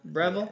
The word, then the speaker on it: Breville: That's how you say it? Breville. Yeah.